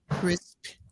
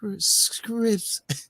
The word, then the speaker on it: crisp: I said, my man, how you pronounce it? Was CRISP? He said, Scripps. I was being Scripps. And he said, no, it's Crisp.